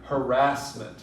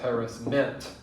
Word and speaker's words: harassment: that very much anymore you hear harassment for the most part and nobody says harris meant as far as i know some people say